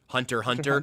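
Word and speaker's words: Hunter × Hunter: anime Hunterx Hunter, but it's actually just pronounced Hunter Hunter.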